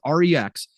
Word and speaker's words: REX: engine called the Rex and yes it is pronounced Rex it's Rex so it is the Rex engine that will